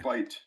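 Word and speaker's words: bight: So, it's called a bite. It's called a bite.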